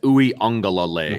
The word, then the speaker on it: Uiagalelei: Yeah, it's Uiagalelei.